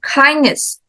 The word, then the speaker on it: kindness: danger okay and then kindness kindness yes kind the first syllable and then credit so